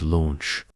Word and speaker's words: launch: The vowel sound in launch is longer and should be articulated clearly, setting it apart from similar words like lunch.